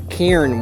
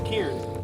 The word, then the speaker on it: cairn: No, Cairn, one syllable. Kieran. Cairn. Kieran. Cairn.